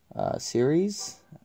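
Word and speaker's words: Ceres: the portrait of Roman goddess series I believe is how you say it not Syria like you're found so that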